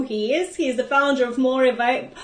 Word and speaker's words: Morevago: For those people who don't know who he is the founder of Morivago. How am I pronouncing it right? Morivago.